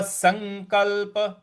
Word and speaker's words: संकल्प: स्वनुषजते सर्व संकल्प सर्व संकल्प जो स के ऊपर अनुस्वार है उसका अंग का उच्चारण लेना है और और जो दूसरा